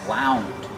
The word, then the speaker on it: wound: Wind in the present, in the past, wound. Make the ow sound like out and about.